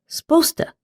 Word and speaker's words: supposed to: And when you hear someone talking quickly or a child speaking, you might hear sposta. As in, you're supposed to eat all your vegetables.